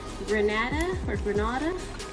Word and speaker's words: Granada: by Juvia's Place in the shade Granada, that's how you pronounce it in Spanish.